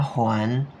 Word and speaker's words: 还: Huan di sini adalah bacanya Huan, mengembalikan, ke kasih ni kamu.